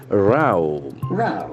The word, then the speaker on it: row: Here it is pronounced Rao. Rao is a noisy argument.